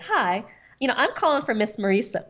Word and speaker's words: Marisa: So my first name is Marisa. A lot of people mispronounce it and say Marissa. So I say it's like Teresa.